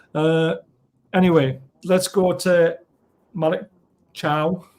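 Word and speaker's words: Malik Thiaw: anyway let's go to Malik Chow that's how you pronounce his name uh there's a lot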